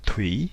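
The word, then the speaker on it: thủy: OU, et ici, donc, nous prononçons bien TE, OUI, avec un accent interrogatif légèrement montant pour exprimer l'interrogation. Donc Thuy pour désigner en vietnamien classique le terme O.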